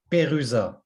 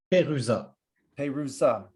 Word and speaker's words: Perusat: It's Perusat. Perusat. Think about Peru, like Peruvian, and Sat, like satellite. That's, Perusat.